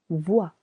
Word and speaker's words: vois: Vous pouvez irregular il peuvent irregular il pe change let into elle pouve would al voir to see je vois silent s je vois tu vois same silent s tu Vois il elle on voit silent t il on voit nous voyons.